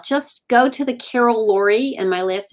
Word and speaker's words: Lourie: in any doubt just go to the carol lori and my last name is spelled l-o-u-r-i-e dot com and use the contact